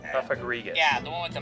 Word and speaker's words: Cofagrigus: that or cofagrius yeah that's what it was coffagrigus cofagrigus yeah the one with the mummy ability anything